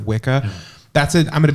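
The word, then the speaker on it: Wicca: should still do that and say witch instead of wika that's a I'm going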